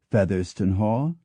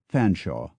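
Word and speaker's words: Featherstonehaugh: holch or hmond holch the surname generally said to have the most pronunciations is f a t h e r s t o n e h a u g h which can be pronounced in any of five ways featherston Hall Fon Shaw feston hall fenhe or for those in a hurry fhaw but in fact there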